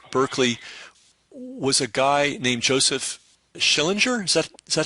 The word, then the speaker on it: Joseph Schillinger: I know that the roots of Berkeley was a guy named Joseph Schillinger.